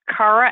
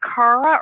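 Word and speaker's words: Kara: ra and I said so is it Cara or is it Cara she goes well my mom pronounces it Cara and my dad pronounces it Cara right Cara so I'm going to announce it I'm going to pronounce it like your mom Cara because I love that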